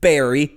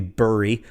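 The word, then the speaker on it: Bury: but AFC Wimbledon beat Barry possibly buri I don't know it spelled bu are wide nobody knows how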